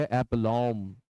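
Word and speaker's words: aplomb: आप कॉम पढ़िए कॉम बम मत पढ़िए इट इज बम बम नॉट बम तो इसे हम पढ़ेंगे एलोम एलोम एलोम इसके लिए वर्ड है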